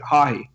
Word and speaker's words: Haughey: We should say our name is Haughey, and I'm like, it sounds a lot like the braying of a donkey to me.